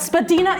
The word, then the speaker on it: Spadina: any sense to anybody why we say Spadina instead of Spadina. But Spadina is correct.